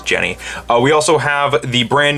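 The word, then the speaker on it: Genni: er Jenny or Jeannie I remember when she was first revealed it was Jeannie but looks like they've changed it to be how it's pronounced over in Japan which was Jenny we also have the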